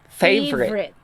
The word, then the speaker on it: favorite: your primary syllable or your primary accent is on the first fave and then the secondary stress is on the red three so you will delete the third because it's the weakest so from favorite naging favorite okay favorite vowel sounds